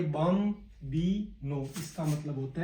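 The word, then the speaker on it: bambino: Italy में sorry को, बम बी नो, बी ए M, bomb plus B plus no. इस प्रकार से इसका उच्चारण करेंगे, बम बी नो।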